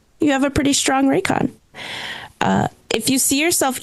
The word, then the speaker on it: Raycon: But I had to look up cuz I I was saying Raiken. Raiken, but it's Raycon. That's how you pronounce it.